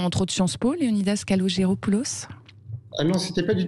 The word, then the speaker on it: Kalogeropoulos: Je prononce bien votre nom, Léonidas ? Kalogéropoulos serait plus exact. Kalogéropoulos, voilà.